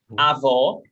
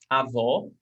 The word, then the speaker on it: avó: So when we have this accent mark, acento agudo, it has an open vowel sound. O. When we have this accent mark, we have a closed vowel sound. O. O. So we change the sonority. Avó, grandmother. Avó. Avô, grandfather. Avó, avô.